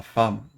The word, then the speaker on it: femme: Le mari, la femme, qui se prononce âme, simplement comme un A.